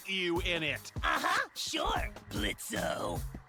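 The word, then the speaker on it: Blitzø: in it uh-huh sure blitzo the O is silent now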